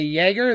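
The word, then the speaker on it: Jäger: respect the letter j i will pronounce it jagger now some people say jaeger there is no y at the beginning of that and i refuse to disrespect letter j this is a fireball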